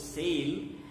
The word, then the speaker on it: sale: is one a but the sound we make between s and l when we pronounce the word s-a-l-e we pronounce it as sail between s and l